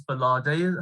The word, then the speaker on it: Gbolade: I believe it's Gbolade. Have I am I saying it right? Yes, spot on.